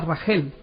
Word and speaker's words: Raquel: mujeres sino con Raquel que en hebreo se pronuncia ragel dice el libro de